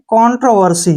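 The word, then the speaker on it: controversy: वर्सी ठीक है ना वर्सी अब इकट्ठा पढ़ेंगे कंट्रोवर्सी क्या पढ़ेंगे इसको कंट्रोवर्सी कंट्रोवर्सी क्या होता है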